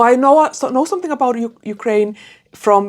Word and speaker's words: Ukraine: I need I would also really like to know more about the the history of Ukrainia. Ukraine. Ukraine. Yeah, that's how you say it.